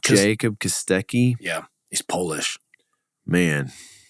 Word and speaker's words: Kostecki: Jacob Kostecki.